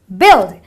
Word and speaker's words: build: it's got a B-U-I, but it's not build or build, it is build, because the UI produces a short I sound, which is build.